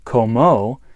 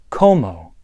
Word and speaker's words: cómo: One note here is that the first O in the word como has an accent over it. That means that you emphasize that part of the word. So rather than como, which is a different word, it's como.